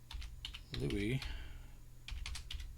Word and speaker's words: Louis: By the time they followed his back trail, Louis pronounced the French way, was in bad shape.